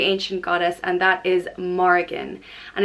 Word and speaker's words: Morrigan: Or it can have a fada over the I and it's pronounced Mar-I-Gin. Or it can have a fada over the O and the I and it's Mor-I-Gin. Morrigan. So yeah, different variants depending on the fadas.